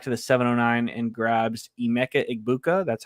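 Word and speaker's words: Emeka Egbuka: Cannon falls back to the 709 and grabs Emecha Igbuka.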